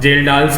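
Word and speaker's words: Kjeldahl: से बोला जाता है जेलडाल्स अमोनिया। ठीक है ना, जो के साइलेंट होता है।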